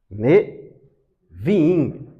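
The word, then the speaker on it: Nevi'im: Neviim. O B no hebraico tem pronúncia V.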